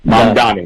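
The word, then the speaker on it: Mamdani: Is that the correct pronounce pronunciation? The uh Mandani. Mambi. Mani. Mani. Mandani. Mandani.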